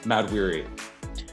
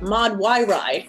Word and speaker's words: Makari: that athena has oh mad weary mad weary i'm so glad you pronounced that i was going to say mod y wri what is your character's